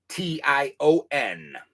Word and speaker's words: Coshocton: Okay, it is Coshocton.